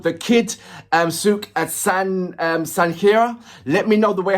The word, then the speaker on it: Sanghera: The Kid Sukh at Sanghera. Let me know the way how I'm pronouncing the surname. So I've got The Kid Sukh Sang, as in S-A-N, Sang, and Khaira.